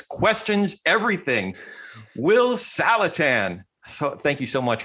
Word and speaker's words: Saletan: like the one we're having today with william salatin salatan wait salatan like callahan yeah taliban that's the other way